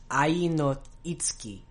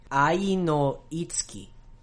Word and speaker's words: Ai no Itsuki: I'm sure you noticed I did something a little weird with the ts sound. That's because it's something in Japanese called a whispered vowel. So in Japanese, sometimes a syllable will get de-emphasized and the vowel sound will become barely pronounced, but it'll still not affect the rhythm of the word.